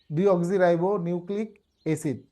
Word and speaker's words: ডিঅক্সিরাইবো নিউক্লিক এসিড: ভাইঙ্গা উচ্চারণ করতে হব প্রথমে ডি পরে অক্সি পরে রাইবো পরে নিউক্লিক এইভাবে চারটা ভাঙ্গে ভাগ করে আপনি যদি উচ্চারণ করেন